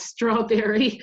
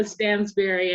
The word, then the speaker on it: Stansberry: It's often mispronounced as strawberry because it looks like strawberry, but it's Stansberry, and I live in